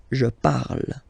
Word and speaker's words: parle: ending e, and then the way to pronounce it is je parle. Parle. So remember, we put it, okay, but then we don't really pronounce it.